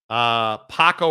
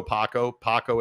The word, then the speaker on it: Paco: Paco rhymes with taco. Okay. Man, wow. That is just revolutionary material right there. We have vacillated back and forth on Paco. Paco it is.